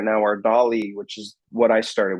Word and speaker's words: DALL-E: I would say that Dolly 2 is the way to go. It's spelled DALL-E, like Salvador Dali, but spelled like Wally, the robot.